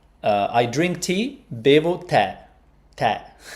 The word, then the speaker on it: tè: It's with the grave accent. Tè. No, I don't know if it's a problem with your keyboard, Mladen, but it's tè con l'accento grave, which surprises me because I thought that it would be... Yeah. It's to make it different from te, which is you, right?